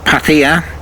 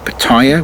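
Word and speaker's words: Pattaya: the infamous town of paa much mispronounced by most people who call it patire which is very irritating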